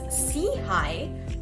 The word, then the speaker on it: SIHI: We are the Social Innovation and Health Initiative, SIHI for short, pronounced as SIHI, which means upward and forward looking.